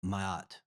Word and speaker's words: Ma'at: Darby, the seven principles of Mayat. Yes, sir. Did I pronounce it correctly? Yes. Mata. Mahat.